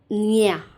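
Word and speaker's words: eñe: इसको वैसे हम बेसिकली इसको हम प्रोनाउंस करते हैं निया, निया, इसलिए मैं इसको कुन्यादो पढ़ रही हूँ, कुन्यादो। ये एक यूनिक लेटर है स्पेनिश में जिसको हम निया पढ़ते हैं, निया, ठीक है।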